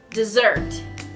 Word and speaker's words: desert: And then the other way you pronounce it is dessert. Dessert. Dessert, yeah. Not like dessert, like yum ice cream, but like desert him, he's a traitor.